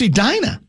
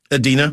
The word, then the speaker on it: Edina: pronounce Edina? Adina. Adina. They did say Edina.